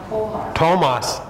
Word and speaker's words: Thomas: idiot don't worry um so th in this country the sound the phonics is t okay for instance how do you say this name thomas okay thomas that is correct because english is goofy but this this comes from the greek greek language and it means twin it means